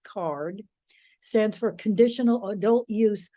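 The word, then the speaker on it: CAURD: applicants it's called card the acronym is c-a-u-r-d pronounced card stands for conditional adult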